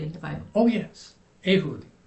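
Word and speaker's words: Ehud: is true story in the Bible oh yes ahood ahud eh h u d e h u d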